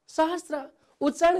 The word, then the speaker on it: सहस्र: अर्को शब्द हेर्नुहोस् त सहस्त्र कसरी उच्चारण गर्ने होला? सहस्त्र हो। ल हेर्नुहोस् त सहस्र सहस्त्र उच्चारण गर्दा चाहिँ यसरी उच्चारण हुन्छ हो। लेख्दा फेरि चाहिँ हामीले यसरी लेख्नुपर्छ।